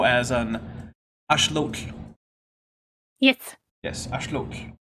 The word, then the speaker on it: axolotl: Yes, axolotl, which is the proper way to say axolotl. Yes. Because of once course, you learn how to pronounce it correctly in like Mexica and Nahuatl, it kind of hurts your ears to hear people say "lotl," and you're just like, ugh.